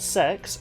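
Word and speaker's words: CeX: It's called C E X, but I kid you not, we it's pronounced sex even in the commercials.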